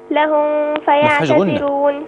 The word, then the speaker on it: لهم فيعتذرون: لهم ف لهم فيعتذرون، ما فيهاش غنة، دي ميم ساكنة بعدها فاء، ما فيش فيها غنة.